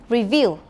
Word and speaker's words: review: is correct but i would like you to pronounce the words correctly again so listen and repeat again review review it has a second dress remember and